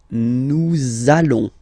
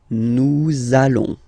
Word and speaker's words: nous allons: it does mean that you will have to pronounce this z sound, okay, listen to me, nous allons, nous allons.